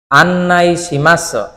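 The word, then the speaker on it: 案内します: ঠিক আছে এরপরে আন্নাইশিমাস আন্নাইশিমাস এখানে দেখেন মাসুর শেষে সু আছে তাই না? বাক্যে যখনই শেষে সু থাকবে তখন এই সু এর উচ্চারণটা হবে না।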